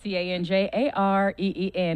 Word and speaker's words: Tanjareen: You see how she spell it? TanjareeN.